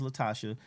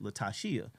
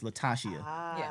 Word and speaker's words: Latashia: our adult years that her name is actually pronounced Latashia. She found that out in her adult years too, because my mama finally told her it's Latashia.